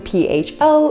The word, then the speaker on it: pho: So even though this soup is written P-H-O, it is actually pronounced pho.